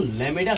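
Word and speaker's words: lambda: इसको लैमेडा से इंडिकेट करते हैं। क्या करते हैं बच्चों? लैमेडा। क्या बोलते हैं बच्चों इसको? लैमेडा। बी साइलेंट, बी साइलेंट हो जाता है।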